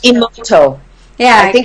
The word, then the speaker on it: Emoto: I have pronounced Emoto.